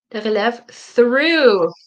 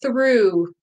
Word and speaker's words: through: say especially yeah thank you for the follow through I hope you can see this word yeah